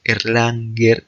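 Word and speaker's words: Erlangen: la ciudad universitaria de air landing se pronuncia erlanger en alemán pero en castellano se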